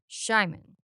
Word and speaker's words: Simon: However, when pronounced by a Hungarian person and heard by an Englishspeaking ear, it would be spelled as s c or excuse me, s h i m a n.